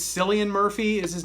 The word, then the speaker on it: Cillian: So there's, I think it's Cillian Murphy is his name, or Killian Murphy. I think it's Cillian Murphy is how you pronounce it.